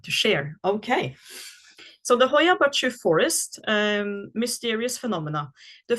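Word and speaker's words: Hoia Baciu: the Hoya bachu bachu uh is it's spelled h o i a and then a new word b a c i u Hoya bachu forest in Romania again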